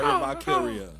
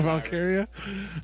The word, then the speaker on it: Valkyria: the women's Intercontinental Championship uh lra valkiria Lyra valkia did I say it right Lyra Lyra Lyra valkyria um going one on one with Kai Dakota